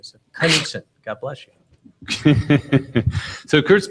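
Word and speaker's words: Knutsson: If you think of a sneeze, that's the best pronunciation. So, Knudsen, God bless you.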